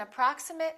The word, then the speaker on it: approximate: i really appreciate it remember ate if it's a verb and it if it's a noun or adjective let's learn some more